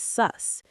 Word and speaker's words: sus: It's just one syllable. Sus. Sus. S-U-S. It rhymes with bus or plus.